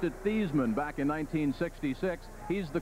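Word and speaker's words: Theismann: think of their field General Joe Theisman he pronounced it these men back in 1966 he's the quarterback here at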